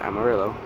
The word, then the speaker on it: Amarillo: we are in Amarillo should be pronounced a Maria but it's pronounced Amarillo Texas at the home